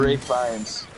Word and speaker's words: Ralph Fiennes: Ray Fiennes.